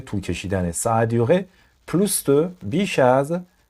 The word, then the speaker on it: plus: ça a duré plus de بیش از. اینجا پلوس رو اسش باید بچه ها تلفظ کنیم.